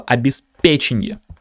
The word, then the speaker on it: обеспечение: факе проверочное слово печень правильное произношение слова обеспеченье ударение вот на эту е можно запомнить следующим образом